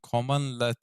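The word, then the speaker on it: cmdlet: Bunun yerine Powershell'de bir cmd LED yani common LED olarak telaffuz edilen çalıştırıldığında özelliklerini ve yöntemlerini koruyan nesneler döndürür.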